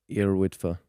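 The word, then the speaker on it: Yr Wyddfa: And you climbed your Yrwidfa. Is that how you say it? Yrwidfa. Yeah. Yeah. Tough one for us to pronounce, I think. Yeah. But, also known as Mount Snowdon.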